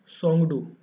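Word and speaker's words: Tshogdu: और यहाँ पर जो पार्लियामेंट है आपकी, पार्लियामेंट को कहा जाता है सोंगडू, ठीक है। ये टी जो होता है वो साइलेंट होता है, जैसे सोंगडू, सोंगडू आपका यहाँ की पार्लियामेंट को कहा जाता है भूटान की।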